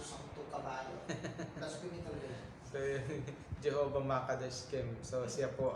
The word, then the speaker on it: Jehovah: Jehovah Jireh. Sa Hebrew ay Yehovah. Kaya nga pagpapakinggan mong Yehovah, parang Jehovah, di ba?